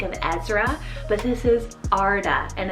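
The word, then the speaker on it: Ardagh: away i think of ezra but this is arda and it's called a-r-d-a-g-h so it means from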